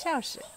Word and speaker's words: Shaoshi: Xu Shaoshi.